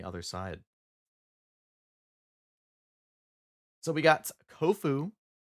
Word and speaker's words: Kofu: side so we got kofu rhymes with tofu I think he was